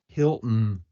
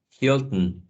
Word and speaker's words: Hilton: Fountain, fountain, Hilton, Hilton. How do you all feel when you have to pronounce this glottal stop?